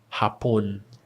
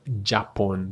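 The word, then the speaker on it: Japón: Hotel hapon hapon. This is not japon. This is ha ha hap hapon hug ho hugo ka we have kilomero kilomero kilomero kiwi kiwi kiwi kiwi el lemon lemon Lemon.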